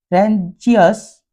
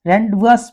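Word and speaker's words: rendezvous: ये दो spelling x और जेड, फा और रेंजियस नहीं पढ़ते, इसे हम रेंडवस पढ़ेंगे। तो इस तरह से हमारे पास ए से लगाकर जेड तक के लिए स्पेलिंग हैं।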